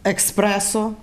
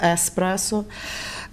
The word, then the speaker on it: еспресо: По-перше, про те, як вимовлялося експресо, хоча вже всі знають давно, що експресо – це не кава, а кава – еспресо.